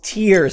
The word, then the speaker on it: Tears: Anyways, Nintendo themselves say that it is tears, as in crying, all right? They officially say that that's how you say it, and that is going